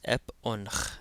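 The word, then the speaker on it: ⲡⲱⲛϧ: So, this is ep onkh. Again, that jinkem adds a short e sound before the p in Coptic. Ep onkh.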